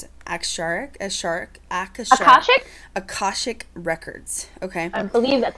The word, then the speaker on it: Akashic: let's talk about Akashic, or is it, how do you pronounce it? Akashic records.